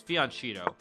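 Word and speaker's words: fianchetto: feed on cheeto um rulerville says it's pronounced what fianchito okay no it's it's fianchito uh but thank you thank you for the uh the the the english lesson um let's go g4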